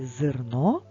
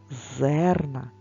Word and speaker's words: зерно: промовляється чітко зерно зерна в слові зерно е не наголошений тож ми говоримо його ближче до звука и навпаки зерна зерна звук епід наголосом і дуже чітко вимовляється і чується як же не заплутатися запам'ятай